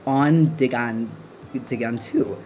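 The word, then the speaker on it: An dtuigeann tú: Andigantu, pronounced like on digantu.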